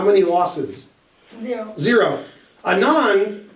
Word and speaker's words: Anand: many losses zero zero Anand or Anand if you want to pronounce it right which you don't he